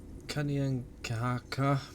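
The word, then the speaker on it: Kanien'kehá:ka: the indigenous people within the area particularly the kanyang kahaka because that's how you say it and as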